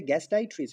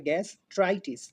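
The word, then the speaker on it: gastritis: কারণ উচ্চারণটা হবে গ্যাসটাইট্রিস নয়। গ্যাস ট্রাইটিস। তারমানে ট্রাই হবে।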